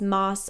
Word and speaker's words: Maas: I call it the mass verse I know I call her Sarah J Mass I called her Sarah J mass for years before I was corrected that it was Moss unfortunately I'm not saying